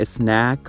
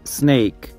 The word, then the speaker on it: snake: تلفظش هم متوجه باشین که snack خوانده نمیشه. Snake.